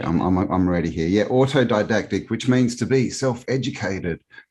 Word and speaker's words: autodidactic: campbell how it was auto diadect autodidactic that's how you say it yeah and it's